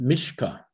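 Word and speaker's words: מִשְׁפָּט: It's pronounced mishpah. The T at the end is not pronounced.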